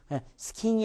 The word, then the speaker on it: skiing: skiing이 아니라 skiing. 이가 두 번 해준다고 해서 맞지 않고요. 그 꺾임이 있습니다.